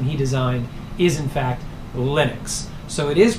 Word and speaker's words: Linux: people who want to call the operating system linux but Linus Torvalds himself has said the computer operating system he designed is in fact Linux so it is pronounced Linux and he didn't